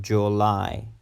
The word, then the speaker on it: July: July July it's not July July I I July July the stress is in the second sellable July July July is